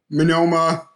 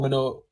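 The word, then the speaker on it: Monoma: can tell he can swap between them seamlessly minoma is it manila or mono whatever nitominoma m-o-n-o-m-a i'm sorry man minoru menoma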